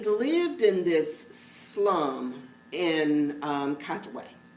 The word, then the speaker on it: Katwe: It's called Queen of Kuwaitu. Is that how you say it? Katwe. Okay. Queen of Katwe.